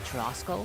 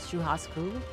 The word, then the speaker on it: churrasco: Oh, churrasco? Oh, churrasco? Is that how you say it? Wait, how do you get the Haas? That's an R. I guess it's Portuguese, right? Churrasco.